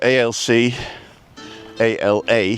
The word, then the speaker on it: Alcalá: So ALC, ALA, and the A's got a little tick on it to make sure that you pronounce the ALC, ALC, ALA, ALA, Alcala.